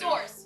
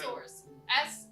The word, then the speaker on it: Sors: Like thesaurus. Thesaurus, yes. That's right. Rhiannon. Source. Rhiannon. Source. SORS.